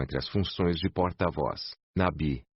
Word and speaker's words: Nabi: O Nabi semita, expresso como Nevi ou Nebi, no original hebraico, com pequenas diferenças na pronúncia em aramaico, Nabi, e árabe, Nabi, é, principalmente, uma pessoa